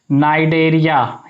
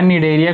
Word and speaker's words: Cnidaria: या फिर इसका एक और नाम होता है और नाइडेरिया या निडेरिया, कुछ लोग पढ़ते हैं तो निडेरिया लिखते हैं, निडेरिया। बच्चों इसकी स्पेलिंग होती है CNIDARIA, निडेरिया।